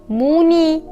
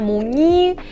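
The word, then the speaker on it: 무늬: it always sounds “i” for example, look at this word “muni” here in the second syllable I have “mun” that has combined with combinational sound “au” and “i” “muni” I don’t say “mune” I don’t say “munee” I don’t bother myself I say “muni” “ni” Sounds “i” Or guys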